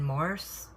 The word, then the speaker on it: Morse: For some reason, how I pronounce my words, it may come out Morris, but I'm say I'm saying Morse.